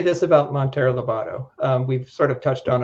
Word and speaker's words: Monteiro Lobato: You always pronounce it right. Monteiro Lobato, Brazil, and to do some serious effort in locating him.